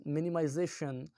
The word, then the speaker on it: minimization: For example, in minimization, the second last penultimate syllable is prominent as greater amount of energy is applied to it, as it is louder and longer than the rest of the syllables in the word.